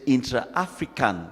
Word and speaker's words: intra-African: But in the real context of it, we say intra-African with an accent on the N, means trade among African countries and trade between Africa and the Caribbeans.